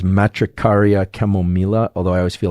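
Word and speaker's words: Matricaria chamomilla: I think that the proper pronunciation of this is matricaria chemila.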